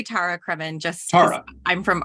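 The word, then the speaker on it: Tara Cremin: Anyway, I say Tara Kremen just because Tara.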